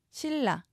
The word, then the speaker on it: 신라: 니 이렇게 적으셔야 합니다 신라 니은이 리을 앞에서 리을로 바뀌는 유마입니다 신라로 적습니다 엘이 나와야 합니다 그다음은 니은 리을이 덧나는